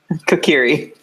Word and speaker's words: Kokiri: I know I'm saying that name wrong. Sorry. I always say it wrong. You all can make fun of me when you listen to this. Ryan, say it the right way for me. Kokiri.